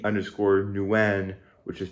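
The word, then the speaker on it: Nguyen: personally on Instagram at underscore underscore Nuen which is spelled ng-u-y-e-n and if you're wondering you can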